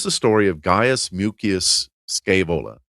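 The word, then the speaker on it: Scaevola: Um, but this this is the story of gas mucus scavola. Scavala. Um, depends on how you want to pronounce it.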